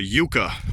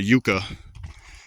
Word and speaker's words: yuca: a native tree here it's called a Yuka or a yaka depending on the pronunciation you choose I guess in Spanish it would be more of a Yuca but the people who speak English call them yakas but if you say